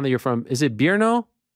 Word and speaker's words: Brno: How do you pronounce the town that you're from? Is it Brno? It's a Brno, yeah. Brno.